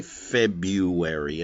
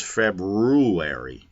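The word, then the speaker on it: February: I was a kid I would spell it febuary and I would even say febuary and my teachers would say Greg it's februari rue where I didn't like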